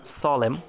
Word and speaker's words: solemn: তারপরে rules number 36, শব্দের শেষে MN এর পরে কোনো ভাওয়াল না থাকলে এবং MN পরপর থাকলে N অনুচ্চারিত হয়, মানে N উচ্চারিত হয় না। যেমন SOLEMN, সলেম মানে গুরু গম্ভীর।